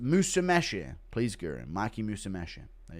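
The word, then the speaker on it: Musumeci: It's pronounced Musameshi.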